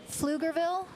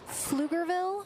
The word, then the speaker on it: Pflugerville: Flugerville. Flugerville at our pickleball kingdom here just outside of Austin.